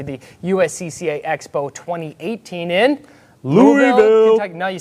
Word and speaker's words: Louisville: make it to the USCCA Expo 2018 in Louisville. Kentucky. No, you said it wrong. See, I've been to Louisville, and you have to not pronounce as many Louisville. of the letters How's that? in Louisville, Louisville.